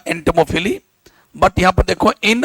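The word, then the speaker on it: entomophily: वैसे तो पते इसका प्रोनाउंसिएशन होगा एंटोमोफिली, बट यहां पर देखो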